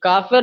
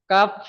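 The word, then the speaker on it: كاف: এই কাফের নিচেও 3 দেওয়া আছে, তো আমাকে এখানে 3 আলিফ পরিমাণ টান দিয়ে পড়তে হবে। কাফ বললে হবে না, ভালো করে টান দিয়ে পড়তে হবে, কাফ।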